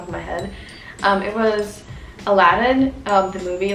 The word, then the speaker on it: Aladdin: And now I know it's Aladdin, it's not like any other weird pronunciation.